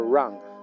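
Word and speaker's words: wrong: y la última your Run estás equivocado No tienes razón estás equivocado No tienes razón estás equivocado No tienes razón no olvides que la W de round es muda decimos run run estás equivocado No tienes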